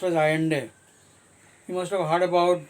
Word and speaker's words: Allende: Salvador Allende, Salvador Allende, Allende, Allende, but it is pronounced as Allende.